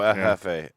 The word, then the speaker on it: Jefe: Because it's El Jefe, but it's spelled like Jeff with an E. Oh, Jefe.